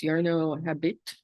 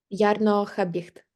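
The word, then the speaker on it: Jarno Habicht: me with this name, I think it's Yarno Habit. How do you say it? Ярно Хабіхт. Okay. Хабіт is okay.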